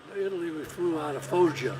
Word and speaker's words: Foggia: Well, Italy, we flew out of Foggia. Foggia, that's it. That's what I'm trying to pronounce.